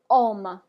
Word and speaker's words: homme: All right, the next example we have is homme. Homme. Homme. Good. Okay, you just pronounce it like the H is not there.